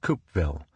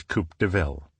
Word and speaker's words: Coupeville: 2-lane roads to the town of Coupeville, which my son took great pleasure in mispronouncing as Coupe de Ville.